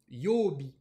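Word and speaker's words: 曜日: qui s'écrit comme ça, ça se prononce yobi. Yo. Et là, je vous l'écris bien en katakana et en hiragana parce que yo, c'est la lecture sino-japonaise de ce kanji.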